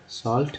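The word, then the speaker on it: salt: यहाँ देखिए सॉल्ट, सॉल्ट में ए का उच्चारण क्या हुआ, आ हुआ।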